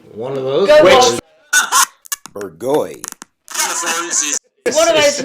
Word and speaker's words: Bourgogne: Bourgogne. One of those not easy, nightmare things so- that nobody on the planet can pronounce.